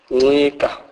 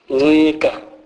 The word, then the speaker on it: ncika: NC is pronounced as ng. Ng. This is a nasal sound. It is a combination of the N sound and the cyclic sound, e.g. ncika, ncika, which means lean against.